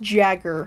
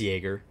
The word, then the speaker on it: Jaeger: It looks like it's pronounced Jagger. It does, like but Mitt. it is Jaeger.